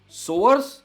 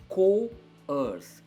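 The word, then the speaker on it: coerce: एक चीज आप हमेशा ध्यान रखिए, जब भी वर्ड्स है ना सी से शुरू होते हैं ना, इनकी जनरली जो प्रोनाउंसिएशन होती है ना वो के से ही होती है। कॉफ, कोल्ड हमेशा क से ही आएगी।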